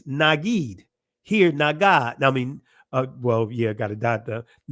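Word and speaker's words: נגיד: Now, in the Israeli, it's pronounced Nagid. The ancient Hebrew, Nagad.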